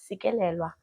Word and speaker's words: Sikelelwa: But we want to know from you, how do you describe yourself, and who is Sikelelwa?